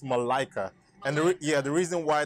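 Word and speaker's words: Malika: this the way this is per new is pronounced Mallika it's actually pronounced Malaika and yeah the reason why that happens is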